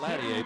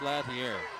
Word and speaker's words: Latier: Now, his coach told us that they said it Latier, but the PA announcer says Latier, which is how it's spelled.